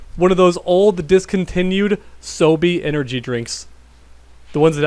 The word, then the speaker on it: SoBe: Sobe. It's spelled like S-O-B-E.